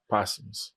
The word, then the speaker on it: posthumous: It's pronounced posthumous, right? Yeah, posthumous.